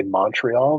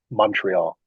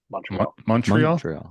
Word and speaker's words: Montreal: from Canada never say Montreal they say Montreal almost like it's a u like Montreal okay yeah Montreal yeah